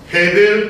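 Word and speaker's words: הבל: 아벨이라고 이름을 지었는데 헤벨 또는 하벨로 발음이 되는 이 단어로서 그 뜻은 숨, 허무, 덧없음, 공허라는 뜻입니다.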